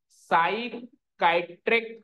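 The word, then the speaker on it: psychiatric: हुआ है sir neuro फिर पी साइलेंट है साइकाइट्रिक कंडीशन क्या होती है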